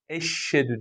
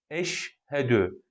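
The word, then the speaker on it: أشهد: kelime-i şehadet kısmına geldiğimizde Bu da Eşhedü değil Eşhedü yani şimdi harbi şey değil değil buna dikkat eş Hadi Eşhedü ve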